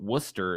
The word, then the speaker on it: Worcester: dumb so Worcester is spelled w rce s eer well that doesn't make any sense because the booster we